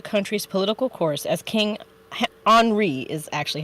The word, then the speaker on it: Henri: to steer the country's political course as king Henri is actually how it's pronounced descends into mental illness in 1820 King